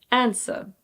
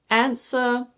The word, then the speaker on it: answer: answer Yes, the W is silent. There are several different ways to say this word. You can say "anseh", "anser" or "ahnseh", for example.